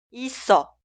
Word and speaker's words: 있어: Por eso, escribimos así, pero suena 있어, 있어.